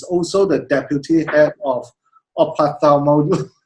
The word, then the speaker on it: ophthalmology: Fee is the consultant eye surgeon from Repulse, and she's also the deputy head of ophthalmology. How do you pronounce that? Ophthalmology. Yeah, ophthalmology in the Ministry of Health.